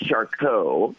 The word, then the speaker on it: Charcot: is it so CMT it's shco is the pronunciation of the the doctor Three French doctors Dr shco Dr Marie and Dr tooth were the